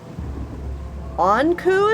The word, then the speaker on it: Anku: Anku is the correct pronunciation?